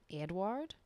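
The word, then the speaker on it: Eadweard: like let's be honest it's spelled e-a-d-w-e-a-r-d Edward Edward it's very fancy way of saying like Edward Edward Mobridge and the technological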